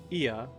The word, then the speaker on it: Ea: When the vibrations of vocal folds was still required to convey our thoughts, the intention, ia, I believe, was the pronunciation used when referring to our people.